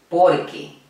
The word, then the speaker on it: porque: Y en esta locución la mayor intensidad, la mayor fuerza de la voz la hago en esta sílaba, por.